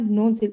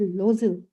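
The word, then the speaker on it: Loisel: और इट इज नॉट नोजिल, इट इज लोजिल. लोजिल, लोजिल.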